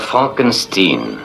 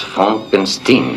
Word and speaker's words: Frankenstein: Docteur Frankenstein. Mon nom, monsieur, se prononce Frankenstein.